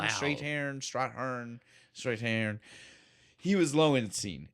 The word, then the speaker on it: Strathairn: It's Strathairn. Strathairn, Wow.